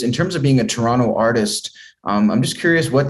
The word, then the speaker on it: Toronto: I think, and I, whenever I say Toronto, I'm like, oh God, some people say Toronto and some people say Toronto. True. I pronounce the T because I was like